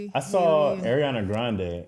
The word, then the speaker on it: Grande: She was like, "Yeah, well the Grandes blah blah blah." She talking about her family with her grand she's like she's Italian. It's not Yeah. It's not Grande. It's actually Grande.